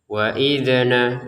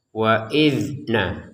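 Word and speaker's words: وَإِذْ: Di sini ada huruf dalal ya, ada huruf dalal sukun. Kita bacanya tidak usah menggunakan pantulan ya. Kalau ini dibaca dengan pantulan salah ya. Waidna itu dipantulkan dan itu salah. Jadi cukuplah tidak usah dipantulkan. Waidna waidna tidak ada pantulan sama sekali karena ini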